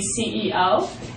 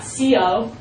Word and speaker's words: CEO: company usually the boss you say my Company CEO and you pronounce it like that not Co CEO the next thing you